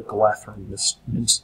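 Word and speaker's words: Galadhrim: Okay, is that the DH together sounds like TH. So that's actually pronounced the Galadrim Weaver.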